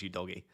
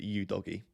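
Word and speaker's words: Udogie: because in an interview he specifically said it's you doggy um because there were loads of people from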